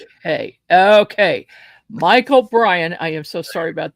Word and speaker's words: Brein: To tell you the truth, my last name is pronounced Brian like lion and I'm telling the truth. Hey, okay, Michael Brian, I am so sorry about that.